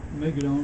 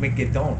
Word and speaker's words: Megiddo: They would say Mount Megiddo then, not Mount Megiddon.